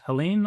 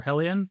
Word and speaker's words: Heliene: So Dave Reasenberg, Chief Commercial Officer at Heliene or Heliene. There's no correct way to say it.